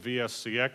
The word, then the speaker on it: VSC-X: to tell you what vsex stands for it's a virtual serial cable extended actually I did that to rhyme with TNC x which is the other product